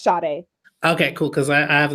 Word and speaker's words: Sade: properly pronounce your name sorry yes it's pronounced Sade it does not look like that's how it's